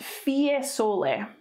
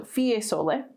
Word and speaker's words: Fiesole: this will be pronounced fiesole so in latin you just pronounce all the letters unless it's a diphthong but fie is not a diphthong so fiesole and that covers italy